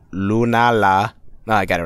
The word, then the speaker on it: Lunala: maybe maybe my nose is stuff I can't pronounce her that well today lulan lunala I got it right now lulan lul lunala